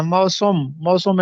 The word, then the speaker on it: موسم: next ہماری معروضی ہے درست تلفظ ہے موسم خزاں، یا ہم اس کو سم پڑھتے ہیں موسم خزاں، نہیں موسم، میم پہ بھی زبر ہے، سین پہ بھی زبر